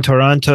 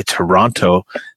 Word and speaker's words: Toronto: Anyway, Sang is telling you that the second T in Toronto is silent. Please correct or leave the city.